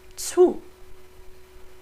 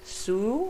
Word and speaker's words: zu: the PF, pf, Pflaumen, zu. So it's not su or, so, it's zu, like a teasy, zu. Ging auf den Markt, frische Zutaten zu, again the T-Z, Zutaten, zu kaufen.